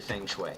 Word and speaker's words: feng shui: make it more efficient they are very into feng shui yes that's how you pronounce that thankfully I have written down I've